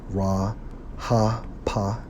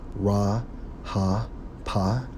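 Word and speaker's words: רחף: Strong's H 7363, pronounced as Ra Ha Pa, which means what?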